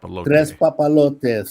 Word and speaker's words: Tres Papalote: How do you say it? Tres Papalote. Three kites, like your three kites to the wind.